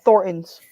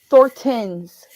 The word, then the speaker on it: Thorntons: brand name brand uh Thorntons or like the people out here pronounce it thortens and it's like no it's Thornton's Thorntons